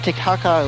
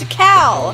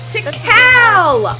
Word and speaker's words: Tikal: Like, Tikal! Make one. Why are you saying Tiktaka? Why are you saying that? That's the name! Tikal! Why are you adding an extra syllable to it?